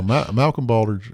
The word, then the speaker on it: Malcolm Baldrige: you know, when you reach out to the Malcolm Baldrige am I saying it right? I don't know why I'm struggling with this. Yeah. Yeah, Malcolm Baldrige.